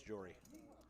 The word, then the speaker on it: Jory: 6 Jory flips all of this. I felt like I said that name wrong. Jory. That is, it's Jory.